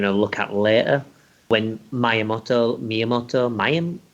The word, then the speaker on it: Miyamoto: Yeah, I mean, like, famously, one of their games, which, we're going to look at later, when Miyamoto, how do you pronounce it?